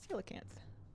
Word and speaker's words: coelacanth: How to pronounce coelacanth.